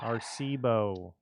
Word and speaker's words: Arecibo: Arecibo. I believe it's pronounced.